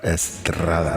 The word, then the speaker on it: Estrada: Estrada. Estrada. Now, you got to roll that R. Estrada.